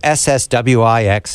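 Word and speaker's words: SXSW: texas this it aaron how do you say sswix it was a long anagram what what does that stand for south by southwest south by southwest it's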